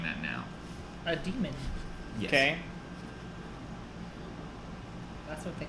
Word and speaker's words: daemon: But it's spelled weird. It's like D-A-E-M-O-N. Demon. It's spelled like Daemon. D-A-E-M-O-n, yeah. Yeah. Daemon. It's like a an daemon. it's like an older spelling of demon Weird.